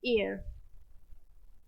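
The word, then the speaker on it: heir: गलत लिख दिया हैलिए इसका स्पेलिंग होता है एच ई आई आर इसको क्या हम प्रोनाउंस करते हैं एयर बोलते ही हम इसे का मीनिंग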